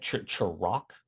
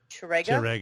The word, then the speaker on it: Ch'Rega: You said Chirag was his name? Chirega? Chirega? Mhm. Chirega. Spell that.